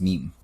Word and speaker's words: meme: Richard Dawkins said that he wanted to come up with a word that has the same sound as gene. Really? So gene becomes meme.